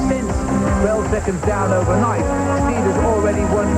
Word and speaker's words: Stieda: Now there's a new name for the French to pronounce. They say Stieda.